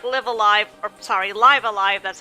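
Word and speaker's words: Live A Live: So it's kind of like Live Alive, Live Alive, that's how it's actually pronounced, but for visual novels.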